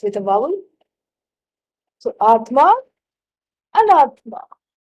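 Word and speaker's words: अनात्मा: You just negate the I. An-atma. An is the negative particle. In Sanskrit, whenever it starts, the word starts with a vowel. So, Atma, Anatma.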